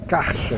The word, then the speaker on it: carca: Na verdade, parece que se pronuncia carcha, galera.